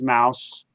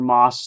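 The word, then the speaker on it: Maus: that of course is mouse or moss depending how you pronounce it and which is very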